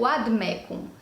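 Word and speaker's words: vade mecum: clássica, nessa pronúncia reconstituída, a gente vai ter no lugar do V o som do U. Sendo assim, a pronúncia correta, pelo menos de acordo com esse tipo de pronúncia que a gente está avisando, seria o Vademecum, porque no latim não existe a letra V.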